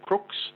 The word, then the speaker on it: Crux: name for that constellation is cruxs or Crooks if you want the correct pronunciation and then just near